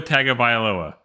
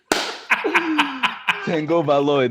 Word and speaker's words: Tagovailoa: His name is Tua Tagovailoa. Tua Tagovailoa. Yet you two assholes regularly and continuously mispronounce it. When you say Tua Tagovailoa, there's no tango in his name.